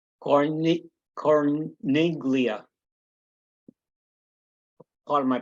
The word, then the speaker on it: Corniglia: Corniglia. Part of my pronunciation.